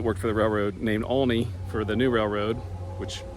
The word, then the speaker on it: Aulne: Fortunately, someone who grew up and lives here saw me and came over and said it's pronounced Aulne, A-U-L-N-E, Aulne.